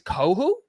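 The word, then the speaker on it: Kohou: I don't know how to pronounce his last name, but Kader, I think it's Kohu. Kader Kohu, yep.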